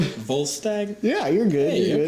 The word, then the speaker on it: Volstagg: Ray Stevenson, who I want to see you pronounce his name. Volstagg?